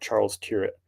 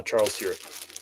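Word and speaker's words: Charles Tyrwhitt: I'm selective in this brand, but the brand is Charles Tier. It's a British BL brand. That's how you pronounce it. Charles Turret. And uh they're known for like formal wear. Uh Charles Turret.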